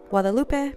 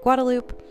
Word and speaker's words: Guadalupe: driving down guadaloop uh it's actually Guadalupe but everybody in Austin pronounce it guadaloop so I am heading